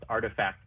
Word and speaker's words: RTFKT: adidas nike has purchased rtfkt pronounced artifact studios they have purchased